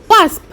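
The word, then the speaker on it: wasp: উচ্চারণটা ভালো করে শোনো ওয়াস্প ডব্লিউ এস পি ওয়াস্প অনেকেই এটা ওয়াপস বলে কিন্তু পি টা যেহেতু মাঝখানে নয় এস টা আগে তাই উচ্চারণটা হবে ওয়াস্প নেক্সট একটা ঝিঝি পোকার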